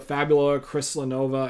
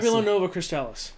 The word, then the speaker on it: Fabula Nova Crystallis: It was going to follow with the same world, essentially, as the Fabula Crystallinova. I think that's how you say it. Fabula Nova Crystallis.